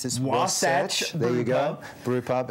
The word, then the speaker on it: Wasatch: I'm at the, you're going to have to help me to pronounce this, Wasatch.